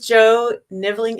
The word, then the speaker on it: Jo Nivling: bit about yourself gosh okay my name is Joe nibling ISO um and now we know why Lenora